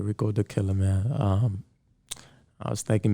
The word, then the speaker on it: Rickodukilla: like how it looks so okay so proper pronunciation is the killer yeah okay all right rico the killer man um i was thinking maybe that was